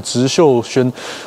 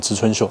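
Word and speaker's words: 植秀轩: 这个就是植秀轩，我刚刚一直把它看念成植春秀，哎呀，不能业配，不能业配。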